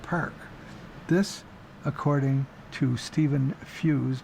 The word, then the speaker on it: Feuz: This, according to Stephen Feuz, but it's spelled f e u z, family name.